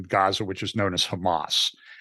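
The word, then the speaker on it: חמס: violence against your brothers the pronunciation of the Hebrew word for violence there is Hamas wow so I don't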